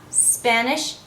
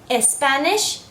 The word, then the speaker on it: Spanish: have Spanish and Spanish there is no e sound that comes before when you hear someone say ESP Spanish you know immediately that they're not a native English speaker so be clear and careful not to include any e sound before the SP just go straight to the SP Spanish okay last practice okay